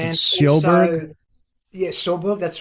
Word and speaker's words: Sjöberg: How do you pronounce it? Sjöberg? Yeah, Sjöberg.